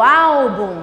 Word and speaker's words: álbum: É o álbum. Menina, pega aquele álbum de fotografia, o som do A chega aumenta. Então eu já sei, a sílaba tônica é a penúltima, não é a última, é a penúltima.